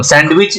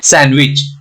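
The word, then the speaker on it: sandwich: silent हो गया सैंडविच मैं नहीं बोल रहा हूं सैंडविच जो है ये गलत प्रनंसीएशन है इसका सही प्रनंसीएशन है सैंडविच ओके दी का प्रनंसीएशन नहीं करते तो यहां पे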